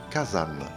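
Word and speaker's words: 火山: Mais si on associe les deux kanji, cela donnera le mot Kazan qui veut dire volcan avec une petite subtilité puisque le San de montagne se transformera en zan avec une nasalisation.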